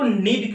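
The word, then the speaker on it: knead: उसके बाद चालने के बाद हम उसको क्या करते हैं, तो नीड करते हैं। क्या करते हैं, नीड करते हैं। यहाँ पे केस साइलेंट है तो नीड का मतलब होता है गूंथना।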